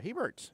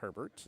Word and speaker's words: Heert: It was Roger Heert. He is right, not Herbert. There's definitely not a R in there, but I definitely added one.